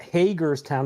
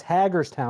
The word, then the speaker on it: Hagerstown: It's not Hagerstown. It's Hagger's Town. I was saying it wrong forever.